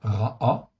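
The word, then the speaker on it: רעה: en fait ici, donc c'est le mot ra allongé, avec un kamatz et un e, ça se prononce ra'a, qui exprime d'abord le féminin du mot ra, en fait ici.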